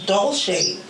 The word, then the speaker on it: Dolce: you thank you guys for having me i'm doll shade doll shade doll shades soul shade as in